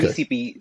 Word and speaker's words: WeCP: WeCP is the correct pronunciation.